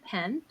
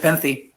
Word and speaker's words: Nepenthe: he is the author of the novel kind nent did I say it right no it's kind of peny no oh kind of peny okay thank you